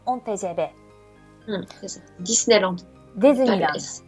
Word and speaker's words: Disneyland: son fils alors disneyland on va le prononce à la française disneyland retrait francisé en tgv